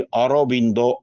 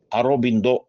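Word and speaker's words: Aurobindo: ಯೋಗಿ ಮಹಾಯೋಗಿ ಅರವಿಂದರು ಆ ಅರವಿಂದರನ್ನು ಬಂಗಾಳಿ ಭಾಷೆಯಲ್ಲಿ ಅರೋಬಿಂದೋ ಎಂಬುದಾಗಿ ಹೇಳುವಂತದ್ದು ಅಲ್ಲಿಯ ಇಂಗ್ಲಿಷ್ನಲ್ಲಿ ಅದನ್ನು ಬರೆಯುವಾಗ ಸ್ಪೆಲ್ಲಿಂಗ್ ಕೂಡ ನೀವು ನೋಡಬಹುದು ಎ ಯು ಆರ್ ಓ ಬಿ ಐ ಎನ್ ಡಿ ಓ ಅರೋಬಿಂದೋ ಅಂತ ಅದು ಅಲ್ಲಿಯ ಉಚ್ಚಾರಣೆಯ ಕ್ರಮ ಇರಲಿ ಅರವಿಂದ ಅಲ್ಲಿ ವಕಾರ ಬಕಾರವಾಗಿದೆ ಅರೋಬಿಂದೋ ಎಂಬಲ್ಲಿ ಹಾಗೆ ವನ ಬನ ಬಾಂಗ್ಲಾದೇಶ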